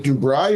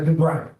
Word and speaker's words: Dubry: Is it Dubai or Derby? Uh, Dubry. How do you spell that?